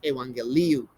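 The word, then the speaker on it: εὐαγγέλιον: an n all right so gamma gamma is pronounced as ng all right then you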